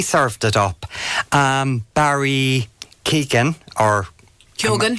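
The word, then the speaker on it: Keoghan: the men really served it up um Barry Keegan or kogan kogan yes and not pronounce here properly uh elocution coming that's his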